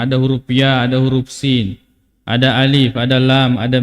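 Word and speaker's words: يس: muqattaah huruf yang terputus-putus cara membacanya menyebutkan nama hurufnya ya Sin huruf ya dengan Sin Nun qf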